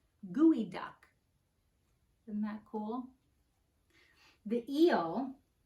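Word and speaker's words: geoduck: to dig deep and you pronounce it like gooey duck and that cool the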